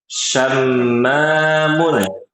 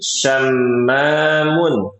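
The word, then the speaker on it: شمّام: Syamun. Silakan diulangi. Syamun. Syamun. Heeh. Bukan syamun bukan. Ya. Mimnya ada tasdidnya.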